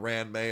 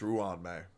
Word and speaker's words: Ruan Mei: And it's not Ruan Mei, it's Ruan Mei.